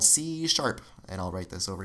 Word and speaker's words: C sharp: is called c sharp this is how you would pronounce it c is sharp it's not a hashtag guys if you spend a lot of time on social media maybe you think it's a hashtag in in music it's